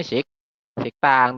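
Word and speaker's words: 식당: Dibacanya Siktang. Tulisannya Sikdang ya, tapi kita bacanya Siktang seperti itu.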